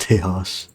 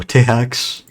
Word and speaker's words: Tejas: It's pronounced Tejas. Or With as, an X at the end. oh, Tehax?